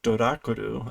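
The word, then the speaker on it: ドラキュラ: So this is literally a male vampire and a female vampire, which they are pronouncing as Dorakuru, a Dracula, and the female vampire as a Doraculina, a Draculina.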